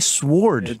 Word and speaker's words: sword: discussed this I'm like stop saying sword dude swords it's there's no W there it's pronounced anyway you told